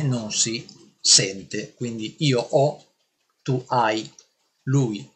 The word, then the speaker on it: ho: regola ci dice che quando io dico io ho non pronuncio la h Ma ma devo